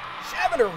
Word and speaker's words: Shavender: Trent Casey, who finds Richard Shavender rhymes with lavender.